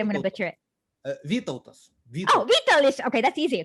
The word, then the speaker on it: Vytautas: It starts with a V, and I can't pronounce it, and I'm afraid I'm going to butcher it. Vytautas.